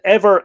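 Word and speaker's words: Éber: So Ever is E-B-E-R, but of course, it being between two vowels, it would have the shevu on it, which would be E-B-H-E-R, which would be pronounced E-V-E-R.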